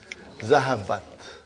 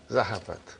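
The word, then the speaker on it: ذهبت: How do you pronounce it? Zahabat. Zahabat.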